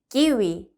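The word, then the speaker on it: kiwi: 맛있는 과일 중에 우리 키위 스페인어 로 읽으면 키위가 아니라 그렇죠 기위 이렇게 읽히죠 한번 읽어 볼게요 기위네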